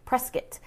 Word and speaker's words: Prescott: to say press kit not Prescott which I learned my first few years here I've been here for 20 years and it takes a while to get used to that but you have to say it right so it's press kit like biscuit all right up in